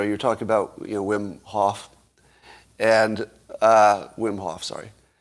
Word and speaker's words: Wim Hof: is it wim hoffman how do you say his first say whim right uh and he's yeah wim hof uh so he's got